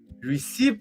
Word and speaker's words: receipt: But it's the P that is silent, not the T.